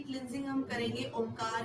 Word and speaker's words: ओम: तो हम यहाँ पर ओंकार का उच्चारण करेंगे, जो कि ओम, अ, उ और म से मिलकर बना हुआ है, और हम यहाँ पर ओम चैंट कर रहे हैं, तो ओ प्लस म का उच्चारण यहाँ होगा।